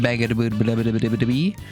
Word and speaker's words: Bangboomme: It's definitely pronounced Bangboomme.